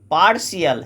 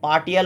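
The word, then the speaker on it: partial: অহিংসা ওকে পরেরটা দেখো পার্শিয়াল এটা পার্টিয়াল উচ্চারণ হবে না পার্শিয়াল উচ্চারণ হবে পার্শিয়ালের কথার অংশ পার্শিয়াল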